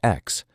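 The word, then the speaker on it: X Æ A-12: They had a son in 2020, named XAA12, pronounced, after some public debate and a California legal intervention requiring standard alphabet characters, as X.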